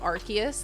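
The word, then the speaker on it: Arceus: I think it was C, but then they officially said Archus. They are wrong. Nintendo was like, "We're going to change the language." Okay, you guys may pronounce it like that. That's wrong. What you what you know from the past is wrong. Okay, learn the new pronunciation.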